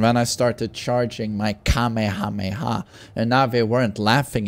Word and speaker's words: Kamehameha: Kamehameha, I think, is the correct way of pronouncing that.